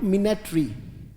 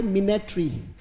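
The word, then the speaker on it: minatory: पर आ जाओ बोलो मिने ट्री बोलना पड़ेगा बेटा बोलो मिने ट्री शाबाश एम आई एन ए टी ओ आर वाई उच्चारण मैंने बताया बोले मिने ट्री अगर उच्चारण में दिक्कत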